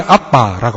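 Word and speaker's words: אבא: 이것서 성경에는 아바 아버지라고 되어 있는데 이 아바가 히브리어로 아빠입니다. 발음이 아빠라고 합니다.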